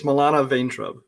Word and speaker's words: Milana Vayntrub: It's Milana Vayntrub.